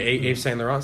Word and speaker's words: Yves Saint Laurent: Yeah, Yves Saint Laurent.